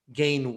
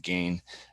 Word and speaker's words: Gane: Because you've got, I believe it's pronounced Gane, but we can keep going with Gane.